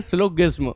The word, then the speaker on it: Syllogism: छानने के इस प्रोसेस को ही सिलोजिज्म या सिलोगिज्म कहा जाता है। इसके प्रोनाउंसिएशन भी अलग अलग देखने को मिलते हैं, वैसे इसका सही है सिलोगिज्म।